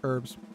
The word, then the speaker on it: herbs: alphabet from h to zed h as in herbs not abs herbs fine herbs homage homage